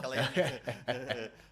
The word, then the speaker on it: Cillian: We don't pronounce C's correctly back home. We pronounce it like a K. So it's Killian.